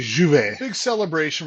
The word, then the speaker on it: J'ouvert: You know, we just went through the Grenada J'ouvert J'ouvert Actually, it should be J'ouvert. They don't pronounce the J hard.